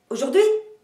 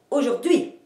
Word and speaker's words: aujourd'hui: Première possibilité, vous montez l'énergie jusqu'à la fin et vous accentuez la dernière syllabe, comme aujourd'hui ou bien aujourd'hui.